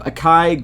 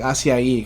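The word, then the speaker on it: açaí: I always get mixed up with that word, but I think it's pronounced like acai. Acai. Did I mess it up last time? I said acai too or something? I always say acai, but I'm pretty sure it's like acai because that's like what's the acai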